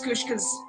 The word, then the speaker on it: Kushka: Miss Kushka's name is pronounced Kushka. It's Kushka.